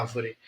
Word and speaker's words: árvore: Olha a árvore. Árvore, árvore. Eu vou descendo. Árvore, árvore. Então eu começo alto e vou descendo.